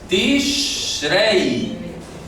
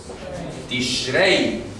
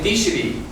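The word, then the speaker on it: תשרי: escribiendo aquí en grande, el mes se llama Tishrei. Tishrei, así es como se pronuncia. Entonces yo he visto, repito, hay algunos autores que ponen Tishri o Tishrei, no, Tishrei, es lo correcto, Tishrei.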